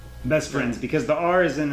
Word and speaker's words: Best F(r)iends: how do we pretty it's just best friends best friends because the are is